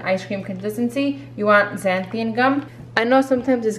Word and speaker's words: xanthan: And then the xanthan gum, you wanna do about half. What, my pronunciation? There's no I, just xanthan. Oh, right, xanthan.